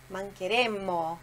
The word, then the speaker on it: mancheremmo: Então aí você diz mancheremo. Olha a diferença aí na pronúncia. Mancheremo. Dá aquela prolongada ali no M que sai.